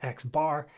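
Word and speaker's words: x̄: to i equals n x with the line over it usually pronounced as x bar is typical notation to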